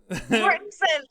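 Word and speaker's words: Mortensen: How is his name pronounced? Just like that. Mortensson. Oh, I think I mean Mortensson that would make more sense.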